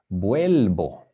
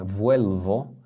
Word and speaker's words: vuelvo: So remember the V in Spanish is pronounced B. Yo voy al parque. Vuelvo, not vuelvo, but vuelvo.